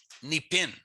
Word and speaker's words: nipin: Summer comes from Cree, nipin. So you do say the N there, nipin.